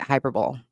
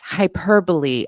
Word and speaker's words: hyperbole: minds over the fact that I pronounced it hyperbol and the condescension is crazy to me cuz these people wouldn't understand a fact if it slapped them in the face in general. Um but just losing it and and again the condescension I would get comments like oh sweetie it's hyperbole.